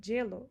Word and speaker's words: hielo: Aqui você vai notar que muitas vezes você vai ouvir gelo e não hielo. Se escreve com H, tem gente que fala yellow, a maioria das pessoas falam gelo, como se tivesse escrito com Y.